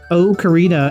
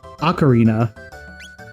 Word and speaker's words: ocarina: say uh is when people say o karina instead of uh ocarina.